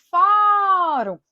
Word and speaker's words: fórum: Da mesma forma que fórum, sílaba tônica fó, eu acentuo porque termina em e não em M.